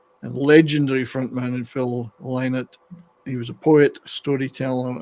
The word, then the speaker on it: Lynott: mighty legends that are Thin Lizzy and Phil Lynott, because that's how his name is supposed to be pronounced according to his daughters.